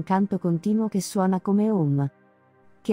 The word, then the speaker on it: Om: suono del mantra Om anche se è scritto ohm si pronuncia Home le tre lettere a